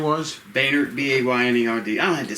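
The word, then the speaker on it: Baynerd: Baynard, B-A-Y-N-E-R-D. I don't have to spell it. Oh, I'm sorry. Right, Boehner's fine.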